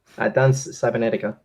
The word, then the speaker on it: Danza Cybernetica: How do you, It's a butchered, like the first word is French for dance. So dance is very similar to dance, except it's Frenchified, I guess.